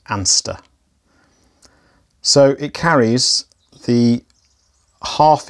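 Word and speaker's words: Anstruther: h e r so some people pronounce it and struther but i'm reliably informed that the correct pronunciation is anster so it carries the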